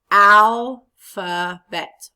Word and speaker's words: alphabet: Alphabet. Which part of the word was longer and stronger? The al. So the accent goes after al.